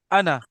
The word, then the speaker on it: أنا: अच्छा, अब आप लोगों ने तीन प्रोनाउंस याद करने हैं। एक है अना, बोले अना।